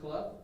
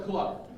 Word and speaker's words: Clough: It is Clough. I got the opportunity to meet him. It is Clough. It rhymes with rough and tough. His words, not mine. Ladies and gentlemen, Colonel Clough.